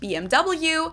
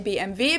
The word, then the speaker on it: BMW: In English, people say BMW. In German, we say BMW because W is pronounced W in German.